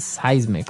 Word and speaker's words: seismic: It's pronounced seismic, right?